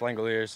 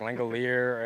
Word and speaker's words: Langeliers: last name a lot it's pronounced language like you know now but it is French so it's a little unique what's the worst you've